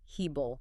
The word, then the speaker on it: hebel: Well, because it captures the precise literal meaning of the Hebrew word hebel. Hebel. Okay, spell that out for us.